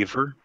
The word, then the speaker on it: Ibar: Aver. Aver. Pronounced Aver, and it's Irish.